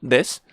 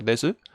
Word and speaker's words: desu: Yo siempre lo voy a decir como des, porque normalmente a la hora de hablar se corta esa u final en des. Pero si queréis decir desu, hay gente que lo pronuncia desu, y entonces pues como queráis, pero normalmente es el verbo des.